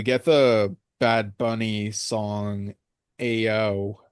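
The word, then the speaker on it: EoO: the Bad Bunny song, Ao. Um, I think that's how it's pronounced. It's spelled like E O.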